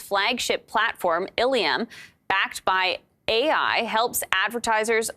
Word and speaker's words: illumin: So it's like illumin.